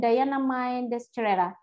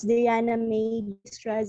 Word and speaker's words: Diana May Destreza: It is pronounced as Diana May Destreza. Oh, Diana.